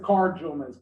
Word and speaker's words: Car Jomez: Check out my weekly podcast, the Car Jomez Podcast, CarJoemez as in zebra. It's Joe and Gomez in a car, like Car Ramrod, but this is Car Jomez because everyone gets the name wrong.